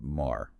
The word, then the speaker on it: Mar: Eyerrik um kept an older a sound. So, you get Mar. West Syriak. That sound shifted over time to an O. So, more right.